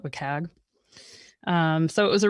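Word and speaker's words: WCAG: trivia question but like how do you pronounce it I call it wag um so it was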